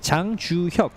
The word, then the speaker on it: 장주혁: It's 장주혁.